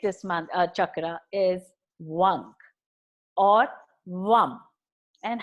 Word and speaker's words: Vam: You mean to say You mean to say Vang? It's V-A-N-G or V-A-M. Both has the same sound vibration.